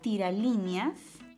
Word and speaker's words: tiralíneas: clasifica como una aguda la palabra tiralíneas es una palabra que se si la vea en varias sílabas uno dos tres cuatro cinco sílabas y la mayor fuerza de voz está en la antepenúltima sílaba eso quiere decir que estaría agrupada dentro de las esdrújulas y por último dígaselo